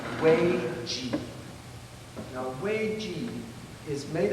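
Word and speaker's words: 危机: is Chinese, I beg your pardon for the pronunciation, but it's Wei Ji.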